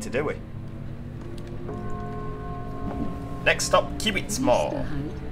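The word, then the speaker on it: Kiwittsmoor: Next stop, Kivitzmoor. Sorry, I forget the W is a V in German, isn't it? Technically, it's pronounced as a V.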